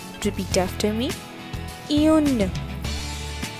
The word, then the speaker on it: un: this is written u and e how we pronounce it un repeat after me un right so we use eun for femina all